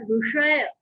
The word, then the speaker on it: विषय: से बोल देते हैं, विषय बोल देते हैं, जबकि सही उच्चारण होता है विषय, दोष, ऋषि, है ना। इस तरह से हमको इसका उच्चारण करना चाहिए।